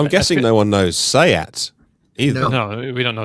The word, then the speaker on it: SEAT: in the us we would say we would pronounce it seat for one right no one would get it and also it exists it's a really interesting challenge for vw as well because sayat has always been the cheap spanish bit of